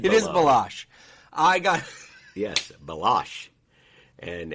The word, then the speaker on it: Baloche: It is Baloche. I got yes, Baloche, and Anthony's not good with. I am the worst podcast host. Paul Baloche, who is an outstanding artist.